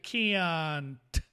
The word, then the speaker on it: can't: Luego tenemos la segunda forma, que es la forma negativa, y se pronuncia can't, y pronunciamos esa t al final.